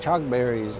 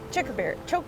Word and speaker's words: chokeberry: June berries and chalk berries, or I That's- think that's how you pronounce them. June berries. I know, but there's like chalk berries? Chokeberry.